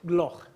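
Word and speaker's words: Gloukh: Tell me the perfect pronunciation. How is Oscar? Oscar Gloch. Gloch, okay.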